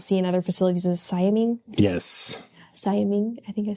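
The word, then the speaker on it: siamang: So a really common gibbon that you might see in other facilities is Siaming. Yes. Siaming, I think I said it right. Siaming, yeah.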